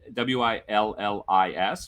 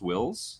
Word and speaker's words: Wills: bob wills okay w-i-l-s w-i-l-l-i-s but it's pronounced wills like not willis and it's texas playboys